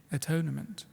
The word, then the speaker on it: atonement: one to become one the very pronunciation of this word hides its etymological meaning we don't say at one moment we'd say atonement this is why you'll